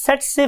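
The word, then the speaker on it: tsetse: हम बोलते कैसे हैं इसे हम बोलते हैं स्टूडेंट्स सेट से फ्लाई सेट से फ्लाई बिकॉज के टी is silent over here हम टी नहीं बोलते तो वर्ड इज सेट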